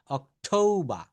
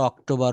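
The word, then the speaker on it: October: টিকে August September September অক্টোবা আমরা অক্টোবর বলে ফেলি তাই না যে এখন অক্টোবর মাস চলছে কিন্তু না এটা হবে অক্টোবা নভেম নভেম্বর ডিসেম্বর ডিসেম্বর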